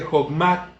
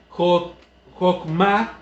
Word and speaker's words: chokmah: Por eso es bueno decir jokma, jok, porque ahí también tenemos la kaf y la mem y la muda, la hei, que esa no debe de sonar.